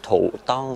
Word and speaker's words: hutong: Nhưng mà ở trong tiếng Hoa hình như là người ta phát âm là thụ tân thì phải. Chữ hờ đọc là chữ thờ.